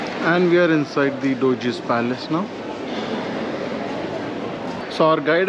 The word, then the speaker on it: Doge's Palace: And I hope I'm not the only one who pronounced it as Doggy's Palace. Look at this. Look at this. Somebody come and look at this. So we are here at Doge's Palace now, and again our group has a